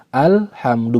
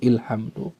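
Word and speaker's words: الحمد: Ya, maka dibaca dengan harokat fathah. Alhamdu, bukan ilhamdu.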